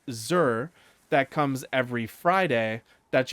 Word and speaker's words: Xur: Zur is spelled X-U-R.